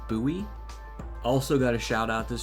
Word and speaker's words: Bowie: By the way, I used to always pronounce it as Bowie, but I just looked it up and apparently it's Bowie.